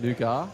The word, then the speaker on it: nougat: Somebody says the T is silent in Nougat.